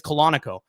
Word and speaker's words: Colonico: Just question, how do you pronounce Andy's last name? And I said, "It's Colonico." And she goes, "Okay."